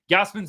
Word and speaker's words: Gausman: the comments today bud gosman's been good today or Gosman sorry I got corrected by a couple of Jay's fans